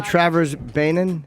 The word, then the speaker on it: Travers Beynon: it is how do you say your name Travers banan that's correct Travers banan Travers uh your Instagram